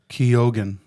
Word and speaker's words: Keoghan: Keoghan, that's how it's pronounced.